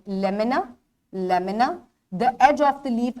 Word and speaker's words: lamina: आपकी बुक्स में भी स्पेलिंग गलत है, LAMINA इज the correct spelling, ई नहीं आएगा यहाँ, lamina, एंड इट is pronounced as lamina.